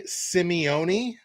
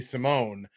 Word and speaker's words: Simeone: defending overall leader, who I got corrected on how to properly pronounce their name. So I believe I'm going to get it right this time. Anthony Simeone, I believe I'm at least closer. I've been saying Anthony Simone for the longest time, but I believe it's Anthony Simeone.